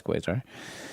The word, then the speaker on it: Quasar: But then you chose Vue and if I got that right, it's actually quazar. That's not quar. That's quazar.